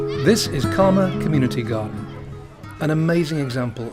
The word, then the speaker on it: Caldmore: Now, I think I should point out that the word Caldmore isn't actually spelt as it's pronounced, and I should know that because I've lived in Walsall for most of my life.